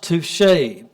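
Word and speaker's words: tusche: touche so this is actually how this is pronounced touche so what this refers to is a kind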